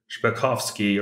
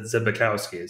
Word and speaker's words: Zbikowski: You know, I had a Polish friend, somebody who immigrated from Poland in high school, and he pronounced it Zbikowski or something like that. But my German grandmother pronounces it Zbikowski. So, okay, you know, that feels more natural.